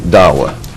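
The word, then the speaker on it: Dahua: that and that is da hua I don't know how that one is pronounced I didn't know that one either they pronounce it Dawa oh thank you okay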